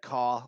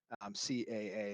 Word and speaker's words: CAA: Mr. D says that caw like a crow is his favorite pronunciation. But I'm with you, Dor. I like CAA. I do like to use the letters as other pronunciations as part of words. And I know that that drives the ASUN absolutely crazy, but CAA is my favorite way to say it out loud.